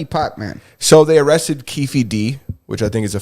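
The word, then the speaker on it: Keffe D: didn't uh rip pot man so they arrested kiefy D which I think is a funny name that's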